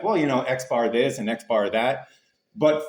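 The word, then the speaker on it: X-bar: with a bar on it and it goes pronounced Xbar. So, that little piece of information pronounced Xbar.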